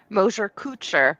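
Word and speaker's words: Mosher-Kuczer: Mosher-Kutzer, but everyone does.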